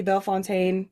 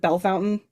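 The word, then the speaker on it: Bellefontaine: So, even though it's supposed to be Bell Fontaine, everybody calls it Bell Fountain.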